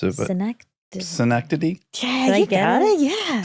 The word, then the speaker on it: Synecdoche: When you did synecdoche, I can't pronounce it, but synecdoche?